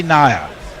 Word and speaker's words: Nair: Ravi Nair. He says it rhymes with liar.